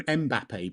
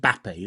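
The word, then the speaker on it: Mbappé: I call him Mbappe, but that's not how you say it, is it? It's just Bappe, isn't it?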